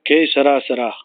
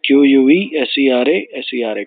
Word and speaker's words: que sera, sera: Que sera, sera. What will be, will be. Q-U-E-S-E-R-A, S-E-R-A.